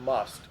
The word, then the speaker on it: musth: Yes, there's a phenomenon called must, which is spelled musth, Mm-hmm.